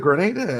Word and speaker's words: Grenada: to grow peaches in Grenada for is was it Grenada? Am I saying the right place? Yeah. You saying it right?